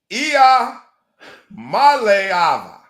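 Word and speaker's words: Iamaleava: His last name is pronounced. Last names are tough. Ia Maleava. I'ma leave. That's Maleava.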